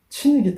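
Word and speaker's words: 秦: 뒤에 진나라는 친이라고 말씀드리겠습니다 중국발음으로 앞에는 진이고 뒤에는 친기 때문에 제가 이렇게 분을 해서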